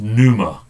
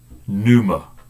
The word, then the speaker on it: pneuma: It's pronounced pneuma. Pneuma.